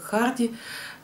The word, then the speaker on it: Гарди: Книги Томаса Гарди, его так же произносят как Харди, «Тесс из рода Дербервилли».